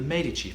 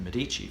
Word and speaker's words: Medici: family motto of the Medici family. Not, as a lot of people pronounce it, the Medici family, but the Medici family.